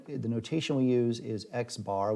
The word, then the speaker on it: x-bar: notation we use is x-bar which is an x with a horizontal line over it we pronounce that x-bar and the sample standard